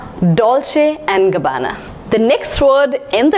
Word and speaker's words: Dolce & Gabbana: Dolce and Gabbana yes don't say and Gabbana I have heard many people pronouncing it as Dolce & Gabbana I'm sorry they are wrong this is pronounced as Dolce and Gabbana the next word in